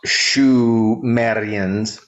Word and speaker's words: Sumerians: The Sumerians, pronounced Shumerians, are a virtually unknown people to most.